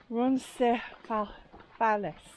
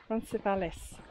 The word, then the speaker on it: Roncesvalles: So we might have a bit longer than that because we're not staying at, I want to say it right, but Roncesvalles. Roncesvalles.